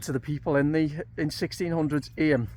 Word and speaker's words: Eyam: And when you consider some of the stories that I've been reading about with regard to the people in 1600s Eyam, not Ayam, however you pronounce it, and how they suffered during the Black Death.